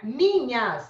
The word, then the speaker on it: minhas: Minhas, tem o N e o H, é encontro consonantal? Não, porque quando eu coloco na transcrição, o NH fica assim, ó, uma letra só.